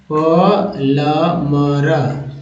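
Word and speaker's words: plumber: ब ये पढ़ते ठीक है पलम लेकिन करेक्ट उच्चारण हैतो प्लमर होता है क्या होगा य पर देखि प ल मर प्लमर प्लमर है ना आधा जो है म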